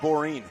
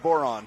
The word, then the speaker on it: boron: yeah well you and you pronounced it borin so well there's some